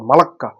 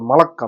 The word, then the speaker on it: মালাক্কা: মহাসাগরে যোগশক্তি স্থাপন করেছে মালাত প্রণালী উচ্চ মালাক্কা উচ্চারণ করে মালাক্কা মালাক্কা মালাক্কা মালাক্কা Malaysia